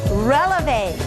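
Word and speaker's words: relevé: we're going to do called a releve relevant kind of sounds like the word elevator and elevators go up same thing with a releve let's put our arms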